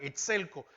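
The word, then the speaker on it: ἐξέλκω: Fíjese que atraído viene de la palabra excelco, con acento en la segunda E, excelco, y es arrastrar.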